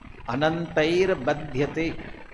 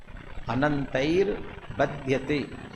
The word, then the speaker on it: अनंतैर बध्यते: अनवरतम अनंत बध्यते लिखा ना, वहाँ अनवरतम अनंतई, आई की मात्रा चाहिए, तृतीय विभक्ति वाला, तय ही विसर्ग, और विसर्ग का रेप हुआ वो ब के ऊपर आएगा। अनंतैर बध्यते, अनंतैर बध्यते, तो अब मैं उच्चारण